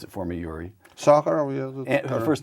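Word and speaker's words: Sakharov: Pronounce it for me, Yuri. Sakurov, her first name though.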